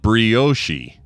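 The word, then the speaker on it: brioche: And bioshi. Yeah, that one blows my mind. I have always heard it's bio. I've never heard anything but bio. I've never heard bioshi.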